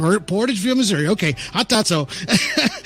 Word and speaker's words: Portageville: right your your town how how do you pronounce that it's Portageville Missouri P Portageville Missouri okay I thought so okay uh so